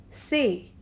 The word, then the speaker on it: c'est: So, the first one is say, C apostrophe EST, and it is pronounced as say, which means this is.